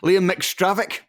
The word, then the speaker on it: Liam McStravick: Liam McStravick. Is that what we're going with? That is how you say it, I would say.